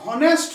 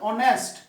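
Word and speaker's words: honest: ঠিক আছে, এখানে উচ্চারণটা হনেস্ট নয়, কিন্তু উচ্চারণটা হচ্ছে অনেস্ট, উচ্চারণটা হচ্ছে অনেস্ট, অ আসছে উচ্চারণটা।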